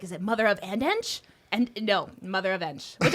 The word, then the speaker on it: Mother Of x Ensh: was like is it mother of andch and no mother of which I like better and it sounds that rolls off the tongue better as you said the X is silent.